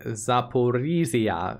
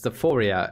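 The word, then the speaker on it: Zaporizhzhia: just now realized that i've been mispronouncing zaporizia as zephoria and can you blame me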